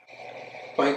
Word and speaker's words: Planck: Sometimes I'll say Planck, sometimes I say Planck. I think technically it's Planck, but you know, I'm American, not very good at actually pronouncing things correctly.